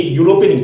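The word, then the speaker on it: European: आप यूरोपियन का, तो हालांकि ये स्टार्ट ई से है लेकिन इसका प्रोनाउंसिएशन किया तो यहाँ पे ये यूरोपियन या का साउंड दे रहा है, और या है ये कॉन्सोनेंट साउंड है, इसकी वजह से यहाँ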